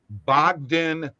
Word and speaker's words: Bogdan: it'll hit and by the way here you pronounce it Bogdan bogdanovic this book donovich but his first name